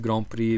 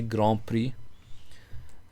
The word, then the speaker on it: grand prix: bit of a weird grand prix because you have this bishop on f5 by the way i'm pronouncing it the french way grand prix in english obviously it's grand prix yeah getting the